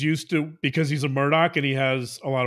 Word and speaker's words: Murdaugh: you change the name it's spelled murder but if you change it to murdoc and you change the